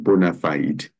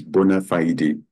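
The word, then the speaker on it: bona fide: matter of bonafide relationship some people will pronounce it Bonafide but actually it is bona fiday when something is bona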